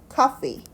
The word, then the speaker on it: coffee: F이기 때문에 fe라고 썼는데 이 발음은 그냥 P라고 하는 것이고 F는 약간 fee 요 사이에 발음이 납니다. 위에 치아들이 아랫입술을 살짝 닿아야 우리가 이 F 발음이 난다라고 하는데요.